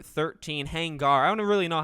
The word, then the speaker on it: Hangar: about mafia 4 and hangar 13 hangar i don't really know how to say it because it's it's not er it's ar but anyway a lot